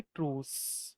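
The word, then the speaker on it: truce: Second question क्या है, choose the word most similar in meaning to ट्रूस, बोलेंगे इसको, क्या बोलेंगे, वैसे ये स्पेलिंग ये है, लेकिन बोलेंगे ट्रूस।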